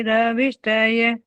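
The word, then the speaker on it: अभिष्टये: और उस य को बाकायदा अच्छे से सुनाना सीखो सब लोग। शन्नो देवी रभिष्टय, य का उच्चारण बिल्कुल स्पष्ट करो ताकि और दुनिया के जितने लोग गलत बोल रहे हैं ना उनके कान में ये आवाज पड़ जाए कि तुम क्या रभिष्टय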